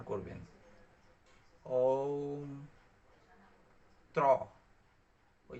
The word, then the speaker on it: ওম: ওম উচ্চারণ কিন্তু অ হ্রস্ব ম, অর্থাৎ ওম। ওং না, তো ওং না, উচ্চারণ করবেন ওম।